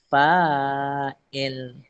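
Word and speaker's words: فاعل: juga ialah kalau dia fa'il. Pelaku kan? Kalau dia pelaku, fa'il. Kalau kita buat rangkap fi'il, jadi yang melakukan perbuatan itu, orang Arab kata fa'il. Fa'il. Fa'il bukan fi'il tau. Fi'il perbuatan. Fa'il.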